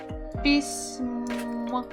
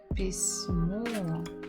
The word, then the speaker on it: письмо: Мягкий знак, пись, пись, м, письмо. And the final one is о, письмо, письмо. The stress is on the final syllable.